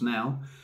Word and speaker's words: Naw: is W for nine it says no but it's pronounced now uh W for nine